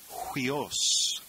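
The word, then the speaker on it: υἱός: Number 17 is the word huios. You see the rough breathing mark over the diphthong upsilon iota. And we'll pronounce that hui, almost like the Q-U-E-E-N in queen, hui, hui, huios. The genitive is huiou.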